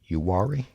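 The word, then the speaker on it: Uwharrie: and east of charlotte that's pronounced yuari you got it i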